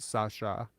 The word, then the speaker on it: Sasa: in my language uh s-a-s-a is pronounced Sasha that's why and that's